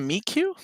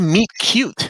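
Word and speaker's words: meet cute: link again sorry guys are we doing a meat cue i thought it was a meat cute am i been saying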